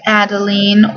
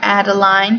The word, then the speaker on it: Adeline: the next one is adelene or Adeline depending on how you want to pronounce it um I knew